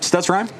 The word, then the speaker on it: Stutzheim: How do you pronounce the head coach's name? Stutzheim? Yep, Stutzheim.